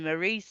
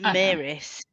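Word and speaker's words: Maryse: Can we just point out that they're still calling her Maurice in these audiobooks, not Maris?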